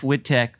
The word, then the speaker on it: Wittek: the next day and put out like jeff whitteck you pronounced my name the right way and you